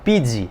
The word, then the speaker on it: Pizzi: de transferências em erradas que é o português Pizzi acho que essa pronúncia correta 34 anos de idade lembro muito